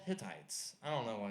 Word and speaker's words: Hittites: It's called Hittites. I don't know why it's called that, you know. Jim High and Bill Tights came in, Hittites. Anyway, the kid pronounced it high titties.